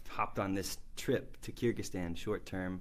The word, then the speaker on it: Kyrgyzstan: Yeah, Kyrgyzstan.